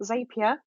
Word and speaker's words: Zapier: a Twitter list but there is another tool zapier that's how you say it but I would